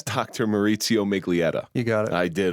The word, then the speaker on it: Maurizio Miglietta: And I've had a lot of anxiety about pronouncing his name because it ends in a vowel. It's Dr. Maurizio Miglietta.